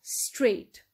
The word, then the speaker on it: straight: have straight straight now if you take uh a look at this word we have gh in the middle right and uh what sound can you hear straight we can head no sound gh is silent we cannot hear either of the sounds nor g and nor do we hear the sound of h so we actually cannot hear anything so when gh is